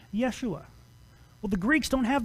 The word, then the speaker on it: Yeshua: so you have in the Hebrew the word Yeshua so you so you have the name Yeshua well the Greeks don't have those letters so